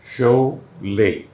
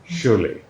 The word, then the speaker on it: Sholay: So people spelled correctly जो पढ़ते थे, but हमने सोचा एक उससे अलग हो जाए और दूसरा के LAY में कोई सेकंड प्रोनाउंसिएशन नहीं होगी. शोले, शोले.